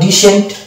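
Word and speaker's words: descent: যদি ই থাকবে, ই থাকলে আমরা সি কে সাইলেন্ট ধরে নেব। তাহলে এটা হলো ডিসেন্ট।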